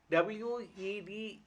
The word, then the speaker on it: Wednesday: WEDNESDAY, D is silent, Wednesday.